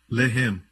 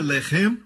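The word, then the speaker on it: לֶחֶם: Se escreve da mesma maneira. Lamed, Het, Mem. Mesma escrita, a única diferença é a pontuação. Eles colocam os pontos em diferentes lugares. Um é Lehem, o outro é Lahem.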